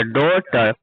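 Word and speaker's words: daughter: जब जी एच और टी जब जी एच टी आता है ना? तो इसमें क्या होता है? जी एच क्या होता है? साइलेंट होता है। क्या होता है? साइलेंट होता है। जी एच क्या होता है? साइलेंट होता है। जी एच को हम नहीं पढ़ते। है ना। क्या पढ़ते है सीधा? टी पढ़ते हैं।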